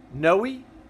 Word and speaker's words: Noah: Noah, it's pronounced no with a long Noe.